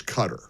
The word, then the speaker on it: Qatar: Evidently, the correct and proper pronunciation forQatar isQatar. Q U A whatever it is, T E R. It's cutter.